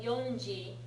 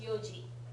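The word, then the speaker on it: 四時: But when you write 4 o' although you write it like yongji it's always pronounced yoji.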